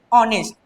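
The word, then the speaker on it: honest: यहाँ पर जब हम इसको प्रोनाउंसिएशन करते हैं तो इसको हम लोग क्या पढ़ते हैं, ऑनेस्ट। एच जो है वो क्या होता है, साइलेंट होता है, इसलिए यहाँ पर क्या आ जाएगा, ऑनेस्ट है, इसलिए एन आ जाएगा।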